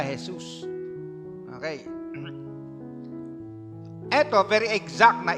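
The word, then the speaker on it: Jesús: Hesus ang pangalan niya sa Spanish. Jesus sa sa English ano. So yun yung pronunciation nila Hesus.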